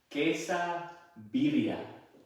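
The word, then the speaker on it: quesabirria: Pronounce for me very slowly. Quesa birya.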